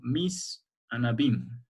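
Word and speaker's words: mise en abyme: No ha dicho puesta en abismo, ha dicho mis en abîme. ¿Se animan a repetir? ¿Cómo se pronunciaría?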